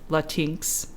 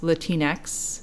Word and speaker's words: Latinx: pronounce it because a lot of people do mispronounce it as Latinx. Okay. But what it is, it's a gender-neutral alternative to Latina or Latino. Oh. So it's, again, pronounced Latinx, and it's a term that has just recently